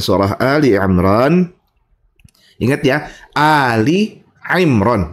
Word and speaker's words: Ali Imran: Ingat ya, Ali Imran bukan Alimran. Ah, ini sering salah orang bacanya.